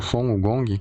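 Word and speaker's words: 孙悟空: O Son Wukong, que em chinês a gente pronuncia como Son Wukong, é um dos personagens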